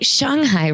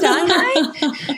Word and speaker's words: Shanghai: I've been saying Shanghai wrong my whole life. Oh, is gosh. it Shanghai instead of Shanghai?